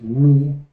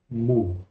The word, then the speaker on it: mu: tenemos la letra mu el nombre según la re es mi ese nombre corresponde más al griego moderno la pronunciación antigua será mu mu el sonido que hace